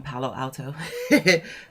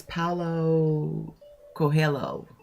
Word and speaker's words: Paulo Coelho: Like it's from, and I always want to call him Palo Alto, but it's Paulo Coelho, if I'm pronouncing that correctly.